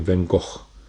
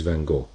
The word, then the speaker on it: van Gogh: difficult to pronounce and actually it is pronounced wrongfully all over the world for example here in Egypt we call it or in Arabic we'll call it van Gogh while his original name is van Gogh so he thought he